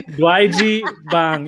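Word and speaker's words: 돼지빵: I didn't catch how to spell that, so Good try. Dwaeji bang.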